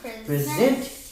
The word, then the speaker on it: present: To give someone a gift, I would like to present you with this medal. Okay, but look at meaning too. Present. And the accents on the first syllable.